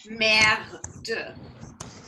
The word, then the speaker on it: merde: So our word in French for shit is merde. Merde. Marde. Little pronunciation help here.